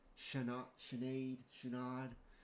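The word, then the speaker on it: Sinéad: Notes pronounced roughly Shenad.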